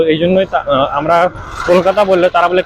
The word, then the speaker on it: কলকাতা: হলেও দুইটার মধ্যে পার্থক্য আছে তো এজন্যই আমরা কলকাতা বললে তারা বলে ক্যালকাটা একচুয়ালি আগে বাংলা উচ্চারণটাও ছিল ক্যালকায় পরবর্তীতে ইন্ডিয়ান সরকার সেটাকে কলিকাতাতে